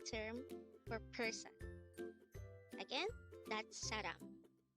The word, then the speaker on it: 사람: Saram. Saram. This is the Korean term for person. Again, the term saram is the Korean term for person. Again, that's saram.